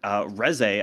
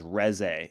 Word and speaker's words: Reze: to do them just it is Reze. You'd say it Reze.